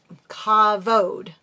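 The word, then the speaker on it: כבוד: Glory is kabov. Cavode. V is pronounced v in Hebrew. Cavode is the honor due to me Yahweh.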